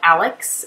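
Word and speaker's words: Alyx: So I'm using these stickers from Amy Tangerine that are called Alex, and it's spelled A-L-Y-X.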